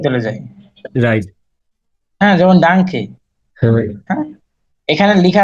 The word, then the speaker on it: Danke: নিশ্চ ডানকে, আমরা কিন্তু এটাকে ডানকে বলবো না, যদিও এন আছে এখানে, হুম, কিন্তু আমরা এনটা